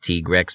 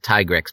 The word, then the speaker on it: Tigrex: Yeah, it's pronounced Tigrex because of the katakana used for it, but I'll pronounce it Tigrex because I don't want to envision a dinosaur drinking tea.